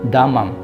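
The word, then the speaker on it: דמם: Sudah kata tenang itu dalam bahasa Ibraninya adalah damam. Agak mirip sih kalau diucapkan dengan damang neng.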